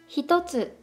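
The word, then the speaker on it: 一つ: Ichi was influenced by tsu a lot, and that's why with tsu, Ichi becomes hitotsu. Was it bad? Anyways, what I wanted to say was, pronunciation changes with hiragana tsu.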